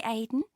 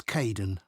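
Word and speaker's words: Kaeden: welcome to the team hi Aiden uh it's Caden I'm so sorry oh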